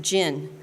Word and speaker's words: GYN: You see, GYN is pronounced gin.